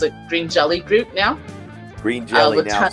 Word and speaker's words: Green Jelly: Green Jelly now. Sometimes they pronounce it Green Jello.